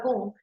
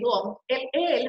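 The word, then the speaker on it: Wundt: Yo lo pronuncio tal cual, Gunn, que es Gunn, fíjense cómo él nace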